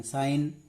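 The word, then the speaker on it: sin: है इसको बोलते हैं आज हिंदी में इसका उच्चारण साइन इसको बोलेंगे उस मैं इसको बोलेंगे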